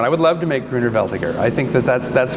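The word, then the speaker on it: Grüner Veltliner: would love to make greener veltiger i think that that's that's one that the oregon could grow really really well but another german pronunciation right greener um laos boom allows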